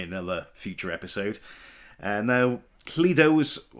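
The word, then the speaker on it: Lledo: future episode uh now Leo was I'm saying it pronouncing it Leo wellsh it could be Leo l l e d o it was founded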